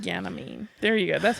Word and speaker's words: Ganymede: Ganymede. Ganymede. There you go. That's how you pronounce it.